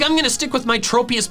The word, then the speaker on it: Tropius: The official pronunciation is tropius. Tropius. My different pronunciation is due to a different assumption about its name origin. Its name comes from tropical and saurus, hence the short O in tropius.